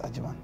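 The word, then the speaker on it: Ajyemang: Your Ajeman, the last one doesn't even have a G. Prophesy. You know, normally, Ajemang is spelled A-J-Y-E-M-A-N-G, right? But this one, I don't see. Yes, I see. Yes, exactly. Ajemang. Yes, Ajemang. Like that.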